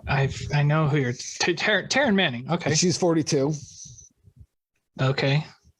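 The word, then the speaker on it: Taryn: manning i know i've i know who you're taran manning okay she's 42.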